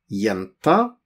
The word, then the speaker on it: jenta: Jenta, jenta with G-J, G-J, but we pronounce it jenta, jenta.